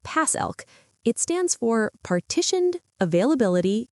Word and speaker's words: PACELC: This is where PAC ELK comes in, pronounced pass elk.